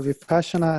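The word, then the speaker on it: Vipassanā: So Vipassana, or Vipassana as it is pronounced in the original Pali language, which is the ancient language of India, means something like to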